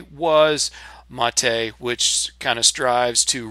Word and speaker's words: MATE: tons of comments that the correct pronunciation is mate um and normally I really don't care what the language police have to say but just so that you know where I'm getting the pronunciation this is on the projects homepage and if you come down to the bottom tells you the name mate pronounced mate comes from yerba mate a species